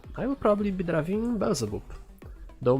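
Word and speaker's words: Beelzebub: driving bezel boop though maybe i should say bilzebap i think that's the proper pronunciation i get too used to the polish one because in poland it's belzebub and as i understand in english it's bill zabab so yeah we will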